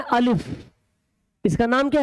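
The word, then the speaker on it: الف: तो इसका नाम है अलिफ। इसका नाम क्या है? अलिफ है। लेकिन इसका प्रोनाउंसिएशन जो बोलेंगे कि जब हम पढ़ेंगे उर्दू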